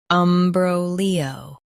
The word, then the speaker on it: imbroglio: Both US and UK have the same pronunciation of this word, IMBROGLIO. Now read the syllables shown on the screen naturally. Bro, Leo, IMBROGLIO. Stress bro and keep Leo smooth.